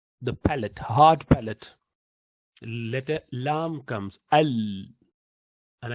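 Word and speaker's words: ل: lamb comes al and I mentioned that lamb of Arabic has slightly wider portion of the tongue touching the top unlike will do lamb or English l where you only touch little bit in Arabic you use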